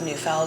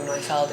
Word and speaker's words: Neufeld: Like my last name is Neufeld or Neufeld if you pronounce it in German, but so sometimes I have a nickname called the Neuf, which is funny to me.